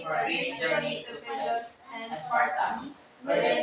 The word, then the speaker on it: Pylos: The stress is on the first syllable. Ithaca. Follow after me. Ithaca. Ithaca. Okay, continuous. Antinous. Ogygia. Ogygia. Pylos. It's Pylos. Pylos.